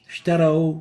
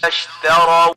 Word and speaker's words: اشتروا: اشتروا اشتروا اشتروا. So we barely can hear the sheen. And the right way of pronouncing it is اشتروا اشتروا.